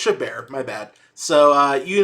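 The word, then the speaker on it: Chabert: Lacy uh I think it's I think it's shabber is it shaber actually know actually don't know how do you say her name oh it's it's shabar my bad so uh you know you of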